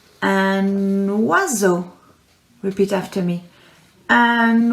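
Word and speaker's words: oiseau: we worked on pronunciations we learned about o and i together making a one sound are you ready for this one and wazzo and wazzo repeat after me and wazzo which is a bird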